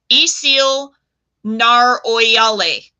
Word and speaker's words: Isil Nar-Oyale: And so we did manufacture a word for the moon of the flame imperishable, and it is pronounced, are you guys ready? Isil Nar-Oyale.